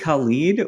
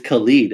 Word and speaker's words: Khalid: there Diamond doesn't also is it colleague or is it Khalid it's Khalid and I had to google